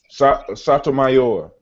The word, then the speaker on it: Sotomayor: Sotomayor.